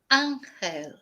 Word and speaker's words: ángel: Thank you, Mellow, for gifting a membership for Angel. Valentine's Day. So somebody got a Vicky Marie's membership for Valentine's Day. Whereas in Spanish it's ángel. Ángel. So angel, ángel.